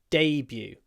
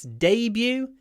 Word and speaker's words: debut: Debut. In British English, it's debut. In American English, it's debut. So they put the stress on the second syllable.